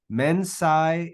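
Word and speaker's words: mensā: Mensa, notice a long A at the end for the ablative. That's the only difference. It's just a longer A.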